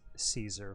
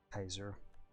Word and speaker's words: Caesar: you know hard seat like a k like Kaiser in the title at least in educated an Academia should be pronounced Kaiser that's least America pretty